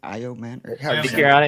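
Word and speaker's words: Ayomanor: Uh, so better things are ahead for, you know, Ridley and also for IO Manor. How do you say his last name? IO Manor.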